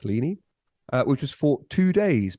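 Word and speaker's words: Ligny: uh listening the answer is the Battle of lini l-i-g-n-y pronounce lini which was fought two days before Waterloo and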